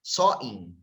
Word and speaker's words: Samhain: Okay, so that is what we called samhain or sawing. They pronounce it just like that.